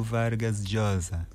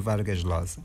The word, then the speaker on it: Vargas Llosa: Pronuncia-se Mário Vargas Josa em espanhol. Sim, é assim a pronúncia correta. Mas vamos podemos dizer como se costuma dizer em português para facilitarmos as coisas. Mário Vargas Losa, mas é Mário Vargas e sem dúvida um